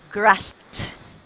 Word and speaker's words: grasped: grab there you go so Edie should sound tea after the letter P it should be T next grasped yeah very good and